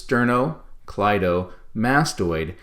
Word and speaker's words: sternocleidomastoid: can get them down this one has multiple syllables sterno clydo mastoid each of those things that i just said each piece of it was actually two syllables it's a six syllable word so we want to